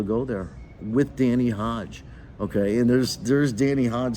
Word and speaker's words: Hodge: told these people that the E is silent in America? Your name is Hodge?